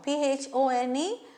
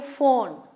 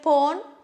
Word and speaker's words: phone: Now for example, phone, P-H-O-N-E, but we say phone. Do we say pone? No, phone.